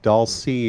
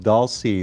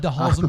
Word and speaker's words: Dhalsim: but they have I'm Bison, and they have Dolce is how that's pronounced. Dolce. I've said Delesome forever.